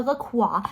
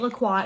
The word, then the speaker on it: La Croix: And don't tell me I'm saying it wrong. That is how I like to say it. Suppose me calling it La Croix is the same energy as someone saying, I'm going to Paris.